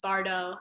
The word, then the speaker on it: bardo: heard geshela teach this he said pardo like as if there was an h there so perhaps that's the true pronunciation pardo um you you'll hear it often as bardo i had some of